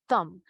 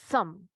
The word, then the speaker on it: thumb: Acá tenemos que tener bastante cuidado porque pulgar, tenemos la palabra pulgar, que si nosotros no hacemos la pronunciación correcta, podríamos estar diciendo tumba. Pero este es el thumb. Thumb.